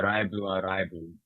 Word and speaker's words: Live A Live: Although the Japanese pronunciation is uh Raibu A Raibu, which would translate more to Live A Live.